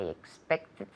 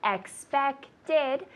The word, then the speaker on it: expected: This one, expected, it has 3 syllables. Expected. Expected him. Because the sound expect en el infinitivo suena como una T. Expect. Y por eso tienes que poner una ed al final. Expected. Expected. ¿Ya? Expected. You add one more syllable, no?